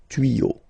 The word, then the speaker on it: tuyaux: Same rule, you don't pronounce it. Des tuyaux, okay?